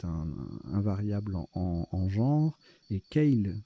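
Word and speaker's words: kale: variable en genre, et Keil, ça se prononce Keil, K-A-L-E, non masculin, un chou vert à friser.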